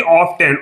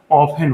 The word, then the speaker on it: often: यहाँ हमने लिखा हुआ, अगर आप वैसे देखेंगे ऑफ्टेन, OFTEN, तो लिखा ऑफ्टेन जाता है, लेकिन इसका प्रोनाउंसिएशन जो एक्सेंट होता है वो हमेशा ऑफन होता है।